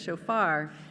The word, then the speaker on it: shofar: shofar shofar I know how to say this shofar in honor of our Jewish High holy days